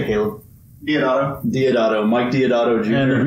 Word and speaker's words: Deodato: Deodato.